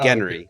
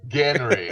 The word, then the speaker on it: Genry: I should have told you how to pronounce it. Genry. Genry.